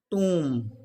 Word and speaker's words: tomb: let's look at the example of tomb it's pronounced as tomb c-o-m is pronounced as com but umb is